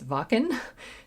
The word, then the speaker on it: Wacken: This is the live recording from Wacken. Apparently that's how you pronounce it. For a while I was like, Wacken? Okay, it's Wacken, 2013.